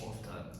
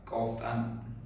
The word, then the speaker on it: often: How often? How? Often. Often. No, often. Often. Okay. T silent T good is Huh? T silent good.